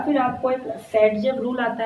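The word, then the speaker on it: Zaitsev: या फिर आपको एक सेटजेव रूल आता है, ठीक है, उसको जेट्सो, अलेक्जेंडर जेट्सो ने उसको बोलते हैं, प्रोनाउंस करते हैं उसको सेटजेव रूल।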